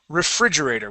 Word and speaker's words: refrigerator: let's uh let's practice the word refrigerator one more time refrigerator with the accent here on the fridge okay try that okay